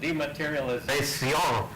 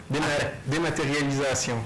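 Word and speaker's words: dématérialisation: Well, when you first introduced it, you actually said dematerialization. Dematerialisation. There we go.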